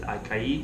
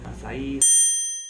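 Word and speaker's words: açaí: So when you're on the beach, one of the things you'll hear often shouted is acai. I think I'm saying it right. Acai.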